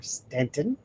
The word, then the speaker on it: Staunton: And to GOS, Ghost of Staunton, Virginia, or Stanton. When you read it, it says Staunton, but we pronounce it Stanton.